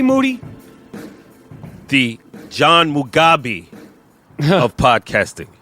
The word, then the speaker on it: Moody: as promised moody last name rhymes with duty back to basics fundamental podcasting my name is Michael Rapaport aka mr.